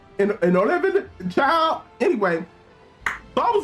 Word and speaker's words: Inolvidable: Inolvidable. It's like inevitable. Inolvidable, child.